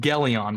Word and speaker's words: Gelion: It's pronounced Geleon, by the way. Gon, not Jon.